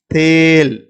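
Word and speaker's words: तेल: அப்போ தேல், தேல் அப்படின்னு நீங்கள் உச்சரிக்கணும்.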